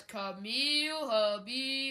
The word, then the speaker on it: Camille: habab camel no sir it's referred to as Camille habob Camille as in camel Habib habob as in corn on the cob now you have to